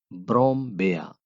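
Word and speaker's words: Brombeere: ये लफ्ज है हमारे पास ब्रोमबेया, इसको प्रोनाउंस करेंगे ब्रोमबेया।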